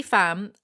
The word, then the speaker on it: Pham: Haley Fam, I'm very certain that's how you pronounce fam, though I'm aware out